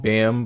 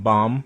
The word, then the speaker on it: Bam: mc bomb or like some people cannot pronounce it bam but it's pronounced bomb for some reason so uh yeah he